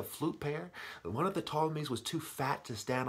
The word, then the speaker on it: Ptolemies: Ptolemies, do the wordplay, okay? Silent P in that word.